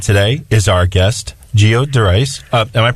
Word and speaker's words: Derice: Helping with business empowerment today is our guest, Geo Derice. Am I pronouncing your name correctly? Derice.